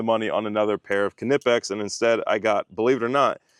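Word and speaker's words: Knipex: I used to have the Kipex, and that's exactly how it's pronounced, Kipex.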